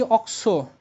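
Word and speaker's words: oxo: তাহলে এখানে বলবা three অক্স three অক্সো প্যান্টানোইক acid ঠিক আছে থ্রি অক্স প্যান্টানোইক এসিড এই যে এখানে অক্স উচ্চারণ হবে ঠিক আছে আর যদি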